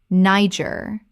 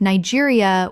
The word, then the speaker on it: Niger: Niger, like Nigeria without the IA. Correct pronunciation. Niger. The country in West Africa takes a French-influenced pronunciation.